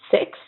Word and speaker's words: six: Six, this one's more complicated to say, to pronounce, and it's six, but you need to say it in a slow. The X is not really hard. It's just a slow X. It's kind of like the S.